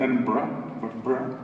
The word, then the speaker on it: Edinburgh: Anyway, we're in the University of Edinburgh, as we learned to pronounce it, Edinburgh.